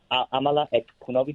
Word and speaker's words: Amala Ekpunobi: Hi, Amala Ekpunobi.